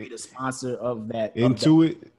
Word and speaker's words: Intuit: they're going to be the sponsor of that intuit into it yeah that's the name of it that's how you pronounce it yeah so they're going to basically